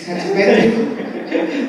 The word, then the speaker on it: Chatzipetrou: I'm going to say your name, but maybe I will not pronounce it the right way. It's Chatzipetrou. Is it? Sounds about right. It's Chatzipetrou.